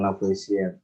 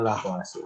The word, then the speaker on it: Lavoisier: No, itu disebutnya bukan Lavoisier. Tulisannya seperti itu tapi dibacanya Lavoisier, hukum Lavoisier.